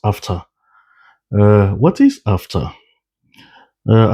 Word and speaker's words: AfCFTA: It's pronounced after.